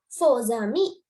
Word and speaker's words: faux amis: Here, faux amis.